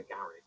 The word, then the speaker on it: garage: car parked in the garage a little less elegant when the British say it garage par the car in the Gage open they extend the a garage Gage it's a